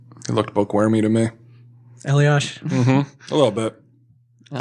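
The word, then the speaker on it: Eliáš: Why is his name pronounced Eliash, by the way? There's no H in that name. Elias? No, like Elias. Well, he's Czech, so I guess he's not from Canada?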